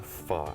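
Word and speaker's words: phở: Pho, You got it.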